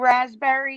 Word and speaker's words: raspberry: It's the P is silent.